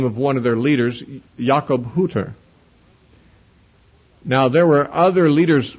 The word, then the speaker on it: Jakob Hutter: In German, however, there's no short U. It's always a long U. So technically, Jakob Hutter is the correct pronunciation.